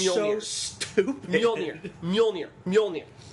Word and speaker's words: Mjolnir: Mjolnir. It's basically a Scandinavian dude's first name. If you can pronounce Bjorn, you're good.